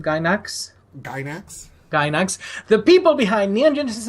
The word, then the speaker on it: Gainax: Specifically Princess Maker 2, which was created in 1993 by, I believe, was it how do you pronounce the company's name? Gainax? Gainax.